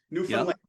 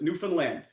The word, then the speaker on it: Newfoundland: In Newfanland. Okay. It's it's like Newland. Newfoundland. That's how they pronounce it. Newfoundland.